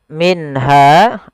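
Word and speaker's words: مِنْهَا: tidak ada juga kemudian minha di sini ada nun sukun bertemu dengan ha maka kita hukumi dengan bacaan izhar halqi Apa itu izhar halqi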